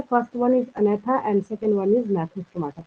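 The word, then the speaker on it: Agnatha: तो जिसके पास जॉ नहीं होगा, जिसके पास जबड़े नहीं होंगे, ये मतलब नॉट होता है, उनको हम अनैथा कहते हैं, जी साइलेंट होता है।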